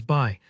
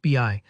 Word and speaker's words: BI: It's easy to see buy together and think of it as buy, especially because in other words, buy is pronounced that way. But in this context, for Microsoft's data tool, it's always pronounced BI, so don't worry if